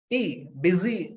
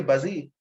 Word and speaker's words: busy: funny masophone it's uh the sound is busy you don't say buzzy a similar thing is